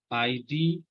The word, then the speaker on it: ID: different examples then here in capital letter abbreviation stress deal last letter like ID so D is a last letter here so we should